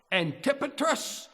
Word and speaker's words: Antipatris: talked about are Jerusalem antipatris the accent on the tip okay I looked it